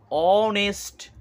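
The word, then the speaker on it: honest: ম্যান এবার উচ্চারণ করো অনেস্ট অনেস্ট এখানে সাউন্ড আসছে এইচ টা কিন্তু সাইলেন্ট হয়ে গেছে ও থেকে অনেস্ট টা শুরু হয়েছে সাউন্ডটা তো এখানে ভাওয়েল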